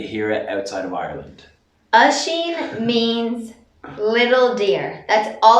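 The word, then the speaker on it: Oisín: Oisin.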